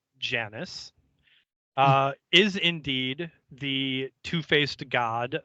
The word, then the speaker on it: Janus: Giannis, properly pronounced Janus, is indeed the two-faced god of Roman mythology.